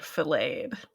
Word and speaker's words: filleted: With the similar silent T in it. And I got to that and I had a moment of, oh no, have I been mispronouncing this word wrong my whole life too? No, you've been pronouncing it the American way.